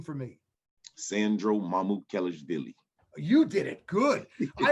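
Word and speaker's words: Sandro Mamukelashvili: player on your team i want you to pronounce his name for me sandro mamut kellis billy you did it good i have it written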